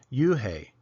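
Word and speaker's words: Unhei: Joey your name is Yuni he asked her with his eyes open wide Yun looked quickly at Mr Kim then turned to Joey she nodded slowly it's pronounced UI it means Grace Mr Kim added Yun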